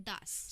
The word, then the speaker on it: das: सो हम मेल को बोलते हैं डेयर, फीमेल को बोलते हैं डी एंड न्यूट्रल को बोलते हैं दास. स्पेलिंग भी बता देते हैं.